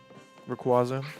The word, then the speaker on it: Rayquaza: Rayquaza, that's how you say it.